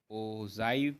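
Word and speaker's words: ogive: अब देखो यहाँ से एक चीज़ आती है ओ ओ ओजाइव, या कुछ भी कह लो यार, इसको ओगीव कह लो, ओजाइव कह लो, ठीक है। प्रोनाउंसिएशन इतनी मैटर नहीं करती, लेकिन इसका फील पता होना चाहिए।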